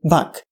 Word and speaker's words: Bek: he is also called Bak. The so-called title Bek is spelled only with two Arabic letters, Ba and Kaf. It means that the vowel between these two consonants can be any, so the Ukrainian Byk can be a valid version.